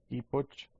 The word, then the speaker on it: Epoch: Unix Epoch o Epoch se escribe y lo escribimos acá abajo. Sería Unix, así, Unix Epoch o Epoch como en inglés.